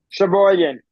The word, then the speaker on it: Sheboygan: So what was the final pronunciation of Sheboygan? Sheboygan.